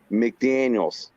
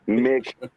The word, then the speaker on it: McDaniels: McDaniels. Not Mick. Not I Mick.